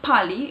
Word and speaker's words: Pali: It's not Pali, it's Pali. You say it Pali. It's Pali language.